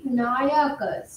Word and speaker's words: নায়কাস: এইটি কি সত্য নাকি ফ্লাকচুয়েট করেছে কোন কোন নায়ক তারা নায়কাস এটার উচ্চারণটা হওয়া উচিত নায়কাস কোন কোন নায়কাস তারা